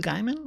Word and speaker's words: Gaiman: it like that neil gaiman i say guyman it's i think it's probably the german pronunciation anyways okay let's get